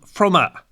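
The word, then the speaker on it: Fromme: to the White House the family pronounced the name froma but by the time she was attending High School in Rondo Beach Braven author of a 1997 biography of her wrote that she no longer bothered to correct people when they pronounced her surname with a silent e She faced difficulties at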